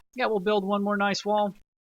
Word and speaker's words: gneiss: I mean, it could be Nice, could be Gneiss, Gneiss. Which one was it? That one. So if it's German, it would be a long I sound, because the I is last.